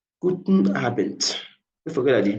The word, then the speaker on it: Abend: When you see the D there, it's not pronounced like Guten Abend. Like Guten Abend. The D there sounds like letter T. Guten Abend.